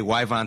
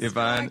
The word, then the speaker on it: Yvonne: So, we're sitting here with uh Hannah aka Wyvon Striker. Oh god. Wonker. Yvon. Yvon Strahovski. Wow. I thought you got my name wrong for a second, man. When you went Wyvon, I went nuts.